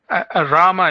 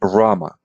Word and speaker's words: Rama: pronouncing your name correctly Rama is fine Rama okay Rama almost like Roma like my my name is Roma actually right my short name so Rama that's that's very close okay great all right